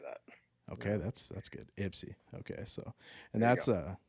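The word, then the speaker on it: Ypsi: too and Ipsy I I was told I pronounced that wrong too Andy set me straight pretty quick so Ipsy how' you say it first I think wasn't Bryce wasn't Ty saying yipsy don't don't say that I used to do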